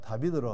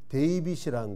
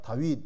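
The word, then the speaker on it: David: 그게 콩글리시로 발음하니까 다비드로 하는 것이지 어 영어로는 데이빗이라는 겁니다. 한자 음가로 하니까 다윗 이렇게 번역을 했는데 데이빗입니다.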